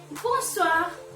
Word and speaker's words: bonsoir: Next is Bonsoir, bonsoir, which means good evening.